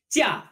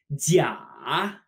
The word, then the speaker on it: 假: 假. This character, when pronounced with a falling tone, means vacation. To take a vacation. However, when we pronounce it with a dip, 假, it actually means fake.